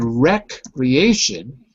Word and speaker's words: recreation: The name is E, and in retreat we say E. But here we say eh because it's rec, closed syllable.